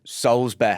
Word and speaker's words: Soulsby: you and him no say his name properly though Souls be Souls be I've got his phone